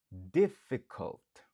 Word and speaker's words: difficult: Difficult. Difficult. Difficult. Qui signifie difficile. Il gagne 3 syllabes ou accentué sous premier.